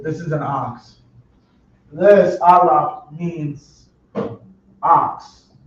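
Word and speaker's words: אלף: This letter right here is known as they call it the Aleph, but properly pronounced it be Aleph. If y'all can't see it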